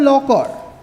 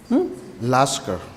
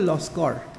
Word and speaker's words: Laskar: petitioner Shri Nazrul Islam Laukar. Laskar. Nasrul Islam Laskar. Laskar. In Assamese, it's called Loskar.